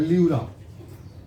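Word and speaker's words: pleura: P silent रहता है, ल्यूरा, ल्यूरा जो इसको कटने फटने छिलने में, कटने उठने नहीं देता है, इसको कहते हैं ल्यूरा।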